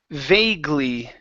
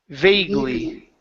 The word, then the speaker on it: vaguely: Right here we have the word vaguely. Vaguely. Vaguely. Okay, so this A is going to be a long A sound.